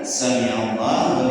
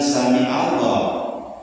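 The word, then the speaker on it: سمع الله: Sami Allah mendengar bukan sami Allah. Jadi bacanya jangan kembali. Kalau beramal membaca ain jadi a bacaan a jadi ainya repet sami pakai ain samiallah harus a bukan sami Allah suka suka ada yang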